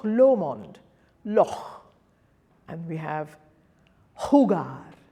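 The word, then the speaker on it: jugar: So J will be h, h, as in, if you think of Scottish loch, Loch Lomond, loch, and we have hugar, hugar, or hamon, hamon.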